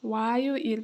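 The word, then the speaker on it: 화요일: मंगलबार मंगल मंगल बार है अब मंगलबारलाई चाहिँ के भन्छौ वायो इल भन्छौ।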